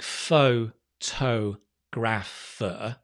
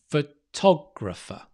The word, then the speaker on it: photographer: is difficult because it's it looks like faux toe graff it's not it's right photographer the top is stressed so often the the vowel before is usually a schwa and the tar because you stretch it longer so not just top but photographer bit louder that's it great photographer